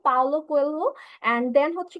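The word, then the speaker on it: Paulo Coelho: বাট হচ্ছে গিয়ে স্যার, রাইটারের নাম হচ্ছে স্যার পাউলো কোয়েলহো। ওকে, সো আমরা হচ্ছে কি এটা উচ্চারণ হবে পাওলো কোয়েলহো।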